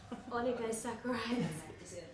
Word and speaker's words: oligosaccharides: The word oli, could you just pronounce it for me? I keep saying it. Oligosaccharides. Oligosaccharides.